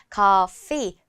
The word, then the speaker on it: coffee: 한글로는 피라고 써있지만 커피, 프 발음은 윗니가 아랫니스를 깨물어주고는 놔주면서 그때 바람이 쇠면서 나오거든요. 커피.